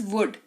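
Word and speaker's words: would: वर्ड है हमारे पास वुड डब् ओ यू एल डी L silent रहेगा लॉजिक इज सेम अगेन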